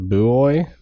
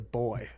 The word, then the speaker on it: buoy: Buoy? The fact that you don't know how to say the word buoy is shocking to me. You called it a boy before. Boy. It's not a boy.